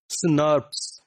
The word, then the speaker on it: snRNP: These RNA protein complexes are called small nuclear ribonuclear proteins, snRNPs, or normally they are pronounced as SNRPs.